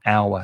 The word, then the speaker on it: hour: Well, H is not a vowel, but it's silent. So you do have an before the noun hour. So it's an hour.